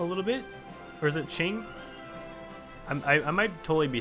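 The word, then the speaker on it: Qing: totally be saying wrong I say King because it just looks like it says King but maybe it's Ching you guys let let me I think it's Ching actually I'm sorry for saying it wrong guys JZ um but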